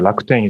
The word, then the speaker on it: Rakuten: I forgot in China, Rakuten is kind of different pronunciation, but it's Rakuten.